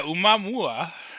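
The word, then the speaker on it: ʻOumuamua: Yeah, Umamua.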